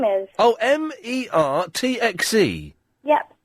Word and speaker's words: Mertxe: The name Mertxe is pronounced Mertxe, and there was something else.